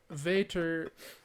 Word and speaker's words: Vater: thing first thing uh vater is father in german okay cool except for it's spelled v-a-t-e-r but it's i'd say it's pronounced the same pretty cool second thought